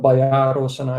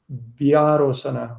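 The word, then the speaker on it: byārosanā: So it's not Bayarosana, it's Vyarosana or Vyarosana.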